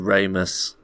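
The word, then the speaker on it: Ramis: The Ramus. Rhymes with anus.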